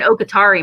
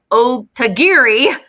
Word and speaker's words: Otagiri: You can find Okatari mugs, and I say that wrong every time I say it. I know I'm probably saying it wrong now. Otagiri. There, I said it right.